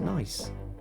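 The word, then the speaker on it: gneiss: type of metamorphic rock spelt g-n-e-i-s-s and it's pronounced nice holding there bring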